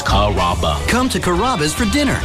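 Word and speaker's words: Carrabba: You know, Kaba, Kamaba, Kamba. It's a really easy name to pronounce. It's Karaba.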